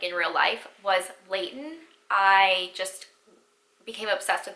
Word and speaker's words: Leighton: this name ever since I heard it, is Layton, and it's spelled Leighton. And the first thing I think of is Layton Meester.